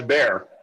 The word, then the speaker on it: Bea: I think he just says bear. Is what I think. Yeah, bear. The bear. Spelled like bear, but with an yes.